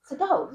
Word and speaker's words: Sedov: Sedov. Yes, Sedov. Okay, good. That's how we pronounce it.